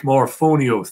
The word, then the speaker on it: Morphonios: That's Jake Morphonios. That's right. I pronounced his name properly.